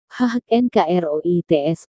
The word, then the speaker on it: Hakenkreuz: Partai Nazi, Nationalsozialistische Deutsche Arbeiterpartei atau NSDAP, secara resmi mengadopsi swastika, dalam bahasa Jerman, Hakenkreuz diucapkan lebih atau kurang, HHNKROITS pada tahun 1920.